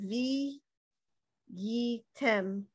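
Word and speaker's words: וִהְיִיתֶם: Make the hey part of this, it's like a syllable, V. You know, these three go together. V, yi, tem. V, yi, tem. If you want to say so the hey is silent.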